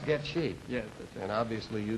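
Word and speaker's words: Goettge: It's G-O-E-T-T-G-E. But it's pronounced Getchy.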